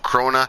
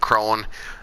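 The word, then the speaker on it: Krone: krona i heard it i heard it pronounced crona and crone i think it's pronounced krona um their harvester but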